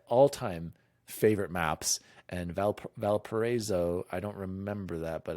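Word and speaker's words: Valparaíso: these are sorry can you how do you pronounce it no shar it's valparaiso it's the first one and aleman which is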